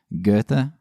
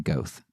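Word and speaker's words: Goethe: episodes uh I pronounced I still can't pronounce his name gtha I pronounced his name goth so I like to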